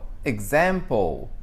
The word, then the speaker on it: example: Oh, example. Example. Então, olha o som de G e Z que tem. Example. Então, essa é a tática.